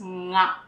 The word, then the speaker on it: nga: So this can be quite tricky because the sound is coming from the back of your throat and your tongue would be slightly curled upward like that.